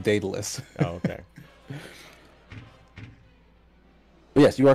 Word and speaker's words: Daedalus: Yeah, I think it's pronounced Daedalus.